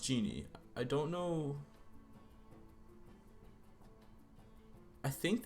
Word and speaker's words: Jinn: How is it pronounced? Ginny. I'm trying to look up. Okay, so genie. It's pronounced genie.